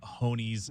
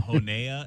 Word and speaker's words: Honey: Honey's son's name incorrectly at a Marana football game once. I called him Honea, and it's like, hey, no, you got to call him Honey.